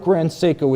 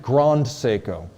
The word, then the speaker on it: Grand Seiko: for grand seiko and i pronounced it grand seiko and i quickly got feedback to the effect that it has to be pronounced for the us market grand seiko like okay you know